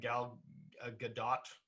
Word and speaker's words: Gal Gadot: um and uh and gal gadot i believe i think we do pronounce the t i think so i